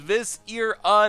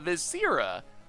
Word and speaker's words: Viscera: 5 months in a row says Vis-ir-a, not Viscera.